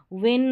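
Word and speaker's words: won: विन का मतलब होता है जीतना। विन, वॉन, वॉन, इसको वन वन करके भी प्रोनाउंस कर सकते हैं।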